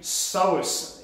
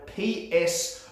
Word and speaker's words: psoas: do that type in psoas in the comments below and you're spelled p-s-o-a-s there's a silent p in psoas okay so type